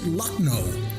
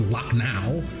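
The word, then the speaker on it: Lucknow: And I pronounce it luckno, not luck now.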